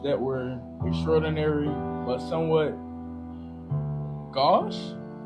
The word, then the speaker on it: gauche: I think somebody correct I think the correct pronunciation is gauche.